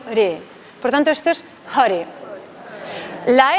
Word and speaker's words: hare: es re, sino re, por tanto esto es hare.